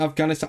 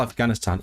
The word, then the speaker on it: Affganistan: Conflicts in Afghanistan.